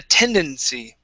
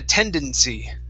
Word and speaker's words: tendency: this is had a tendency had a tendency had a tendency okay make sure to pronounce the n right before the the c tendency had a tendency there you go